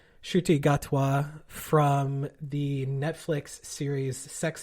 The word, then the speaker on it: Ncuti Gatwa: to look this up to make sure I'm pronouncing it correctly. Ncuti Gatwa from the Netflix series Sex Education.